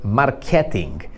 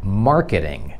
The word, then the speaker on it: marketing: następne słowo to jest marketing marketing i tutaj nie tylko wymawiamy to i inaczej ale też jest inny Akcent zamiast markety to jest markeryng i cóż to jest marketing marketing i nie ING to nie jest marketing